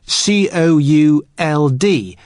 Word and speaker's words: could: to the pronunciation could could you spell it cou LD but the letter L is silent could now listen to